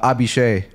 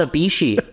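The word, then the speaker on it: Abhishek: to like it yes speaking of mispronunciations uh abhishe my bad what's up bro the guy you've we've been talking about for weeks his name is not abishi who would have thought I would have thought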